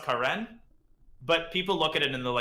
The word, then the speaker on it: Karen: It's pronounced Karen, but people look at it and they're like, what? Karen Gregorian. And they're like, hi, Karen.